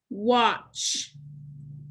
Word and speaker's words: watch: the trigraph in tch the t is silent so let's cross it out trigraph tch says now